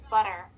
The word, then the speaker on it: butter: technique there is instead of T, like butter, you swap the T with a soft B.